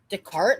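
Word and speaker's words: Descartes: Decart. That's how you say that. That's how you pronounce it. Yeah. Decart. Oh, so the S is silent.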